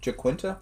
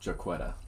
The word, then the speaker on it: Jaquetta: Jaquinta? It's pronounced Jaquetta. Jaquetta.